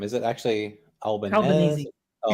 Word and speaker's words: Albanese: Albanese.